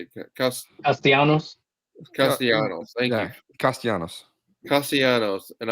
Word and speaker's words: Castellanos: Castellanos.